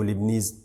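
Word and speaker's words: Leibniz: बाज़ लोग यहाँ पे टी भी लिखते हैं, टी, मगर वो चूँकि साइलेंट है तो लिबनीज नोटेशन।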